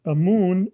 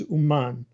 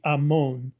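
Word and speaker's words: אָמוֹן: And it says, do not pronounce it as amun, but as uman, or it could be amon, okay?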